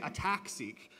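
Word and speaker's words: ATAC-seq: now at Harvard developed attack seek okay so it's attack well I like to say attack seek because the transposase is attacking the chromatin it isn't ATT attacking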